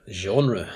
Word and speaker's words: genre: consider something called genre genre yeah sounds foreign well it's it's a french word and pronounced the french way even in the english language um in other words